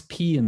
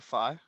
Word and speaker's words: pi: But see, what's P in the Greek alphabet? Isn't it phi? Sorry? Isn't it phi? It's just pi. Not phi, but pi. When you pronounce pi in Greek, it's just a P.